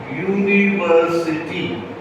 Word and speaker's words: university: But notice how you pronounce university. It is actually yo u or yu. It is a consonant.